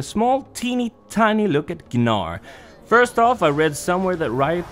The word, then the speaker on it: Gnar: teeny tiny look at ganar first off I read somewhere that right things that his name is supposed to be pronounced nor with a silent G but it feels way